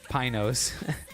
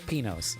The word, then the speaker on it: Pinos: Mexican restaurant I'm like is it Mount Pinos or Mount penos and the guy laughed he was he was a Mexican guy he was like he was like he was like the white the white pronunciation is Pinos and I'm like so it's penos yes yes yes yes Mount penos and good times good